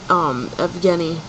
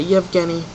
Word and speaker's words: Yevgeny: It's spelt with an E, so it looks like Evan. Well, kind of at the beginning it does, but it's not. The name is Evgeny, or I'm sorry, Yevgeny. So it's got like a yeah. That's why I always thought it was spelt with a Y, because of the Yev part.